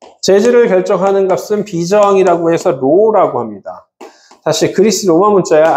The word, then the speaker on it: rho: 재질은 재질을 결정하는 값은 비정이라고 해서 로라고 합니다. 다시 그리스 로마 문자야. 알파도 그리스 로마 문자 베타 감마도 다 그리스 로마 문자이듯이 얘를 뭐라고 써요? RHO라고 해서 뭐라고 읽어요? 로라고 합니다.